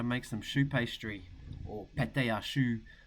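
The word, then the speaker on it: pâte à choux: We're going to show you how to make some choux pastry, or pate à choux is how it is pronounced in French.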